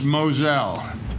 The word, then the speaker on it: Moselle: to a point Dolores Moselle and the you see the spelling mo SE SEL which is correct that she pronounces it Moselle ok kereta committee's recommendation